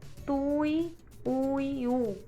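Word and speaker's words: tuiuiú: Como tui, ui, u, tuiuiu, certo? Ó como a gente separa, eu grifei para vocês aí de vermelho. Tuiuiu, tuiuiu, não, tui, uiu. A última sílaba ela é tônica.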